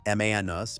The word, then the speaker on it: Manus: They acquired the AI agent startup Manus for pronunciation, Manus, back in December.